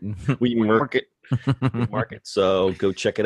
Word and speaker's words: WeMRKT: So WeWRKET, it's spelled, it's actually We, and then all in capitals, MRKT, because that's how people like to spell things now. Market. WeMRKET.